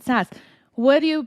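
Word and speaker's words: SaaS: software as a service it's sas right you pronounce it sas what do you pronounce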